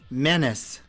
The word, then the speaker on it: menace: There's also the British English pronunciation, which is menace. Menace. It's closer to penis, menace, penis.